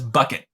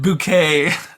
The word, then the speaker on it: Bucket: family this woman her her last name is bucket which is like the most and but she pronounces it bouquet and so uh it's it's there's also a